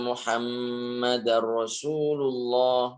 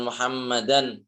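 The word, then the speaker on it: محمدا رسول الله: Misalnya kalau orang azan, ashadu anna muhammadar rasulullah. Muhammadar rasulullah. Nah, ini bukan Muhammadan bukan tapi Muhammadar Rasulullah.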